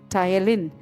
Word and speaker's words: ptyalin: But the spelling is P-T-Y-A-L-I-N. But how will we pronounce? Ptyalin. P silent will pronounce as ptyalin.